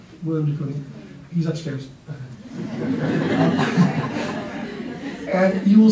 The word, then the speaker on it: Willem de Kooning: Willem de Kooning. Willem de Kooning.